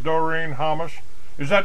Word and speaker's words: Doreen Hammas: And my guest today is DoreenHammas. Am I pronouncing that right, Doreen?